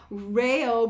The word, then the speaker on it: REO: forward to doing more rayo brothers and i think i'm saying it right because i was thinking of the reo speedwagon the first time but it's the rail brothers as i was corrected so i always appreciate